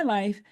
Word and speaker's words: LYFE: Of course, my business is called Life Balance, and it's spelled LYFE because it's an acronym for Love Yourself First Every Wow.